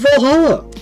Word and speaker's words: VA-11 Hall-A: Good thing it's actually called Valhalla. The funny numbers and letters are just a code.